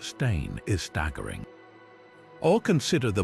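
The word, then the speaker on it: Berenstain: The sheer volume of people who recall this alternate version, complete with fabricated memories of how teachers pronounced it steen instead of stain, is staggering.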